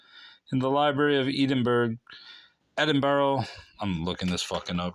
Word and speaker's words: Edinburgh: the proper pronunciation is edin bra I think Edinburgh Edinburgh I think the some people just roll the bra part and make it burrow the library of edinb